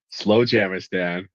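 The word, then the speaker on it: Slowjamastan: in Southern California right now, and it's called Slow Jamistan, and it's real, and I love everything about it. It's What in is it? Imperial Valley, Slow Jamistan.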